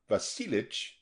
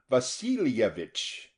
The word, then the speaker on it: Vasilovich: Semon Vasilovich Kelnikov reminded him pronouncing it not Vasilich but fully Vasilovich and this pronunciation was pleasing to all as expressive of a feeling of worth and self-respect.